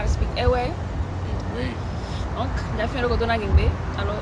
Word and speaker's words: Ewe: Ewe.